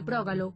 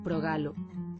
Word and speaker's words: Prógalo: E así sempre pronunciaremos correctamente Prógalo, como debe ser, e non o incorrecto Progalo.